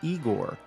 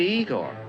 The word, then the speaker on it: Igor: that of Frankenstein's assistant you must be Igor now it's pronounced Igor anyway back to the differences